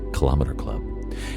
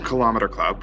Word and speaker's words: Kilometre Club: So, the name Kilometre Club, which that's, my Toronto pronunciation, right, I guess, our metric pronunciation.